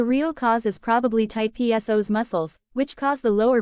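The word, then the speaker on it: psoas: it is often called the powerful pso's pronounced so as for the many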